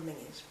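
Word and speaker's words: Menzies: Alexander Mingis spelled menses as it were.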